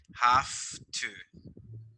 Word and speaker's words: have to: because of pronunciation right because when you have it like that you pronounce it like f at the end have to we don't say have to we say like have to i don't have to